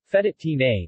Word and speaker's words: fettuccine: Fettuccine Italian pronunciation fed at team a literally little ribbons in Italian sing fettuccine is